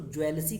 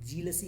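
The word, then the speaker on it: jealousy: अच्छा, बहुत से लोग जीलसी को ज्वेलसी कहते हैं, तो प्लीज़ अपना प्रोनाउंसिएशन, उच्चारण जो है सही करें। जीलसी होता है, नॉट ज्वेलसी।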